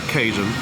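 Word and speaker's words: Cajun: kuchni francuskiej i hiszpańskiej ona się nazywa cen Tak się czyta pisze się No i to jest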